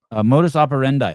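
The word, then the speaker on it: modus operandi: Modus operendi.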